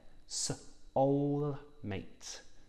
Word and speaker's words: soulmate: So press your lips together for the w and use your tongue for the ul, soulmate. And remember that ate makes an eight sound, not atty, eight. The E is silent.